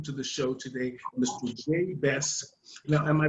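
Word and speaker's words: Jay Bess: so please welcome to the show today mr j best now am i pronouncing it right perfect okay now how do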